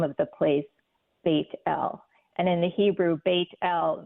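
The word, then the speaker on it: בית אל: and he called the name of the place baitel and in the Hebrew baitel means House of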